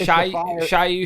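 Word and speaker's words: Shyu: to say his name, whether it's Shu or whether it's Shiu. Is it the sage? Huh? Is it the sage guy? Yeah, it's Shiu Shiu.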